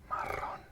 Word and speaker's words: marrón: So remember what I said about double R. So how would this word be pronounced? This word would be pronounced marrón.